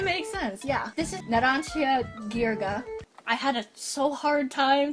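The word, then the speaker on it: Narancia Ghirga: Well, I mean, if you look at it and think Ghirardelli. I never. What? The G-H in Ghirardelli? This stand has a carbon dioxide radar.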